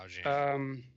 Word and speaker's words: Augean: There's not really I forget how to pronounce that in English. Is it like the Augean stables? I think so. Yeah, Augean.